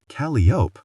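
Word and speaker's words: Calliope: Caliopi dewinter. Calop. Lee corrected because their mother was too stupid to know how to pronounce it.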